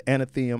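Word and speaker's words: Athenaeum: It's the Anatheum.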